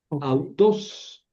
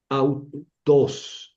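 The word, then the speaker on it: αὐτός: Autos, autos. Auteé, auto. Así lo voy a leer.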